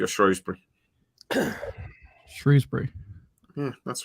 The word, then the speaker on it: Shrewsbury: How do you say Shrewsbury? Is it Shrewsbury or Shrewsbury?